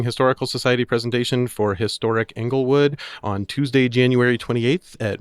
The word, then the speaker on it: Englewood: I grew up there, and we say Englewood.